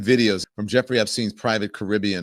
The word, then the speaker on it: Caribbean: There's photos and videos from Jeffrey Epste's private Caribbean or Caribbean is the correct pronunciation, the island on Wednesday